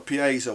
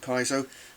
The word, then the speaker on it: piezo: He put a piezo, or you might pronounce it piezo, but I would call it piezo.